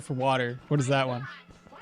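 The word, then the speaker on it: eau: What is that one? Water. Water is eu, but it's called it's pronounced o.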